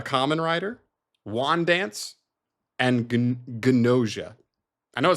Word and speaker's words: Gnosia: Tojima wants to be a Kamen Rider, Wand Dance, and Gnosia. I know it sounds stupid. Watch it. They pronounce the G.